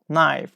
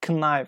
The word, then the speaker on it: knife: more you'd say is K who uses knife yes knife not connive okay K is a